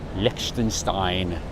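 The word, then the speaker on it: Liechtenstein: school Likenstein the country Likenstein Likenstein is I think the way you say it properly.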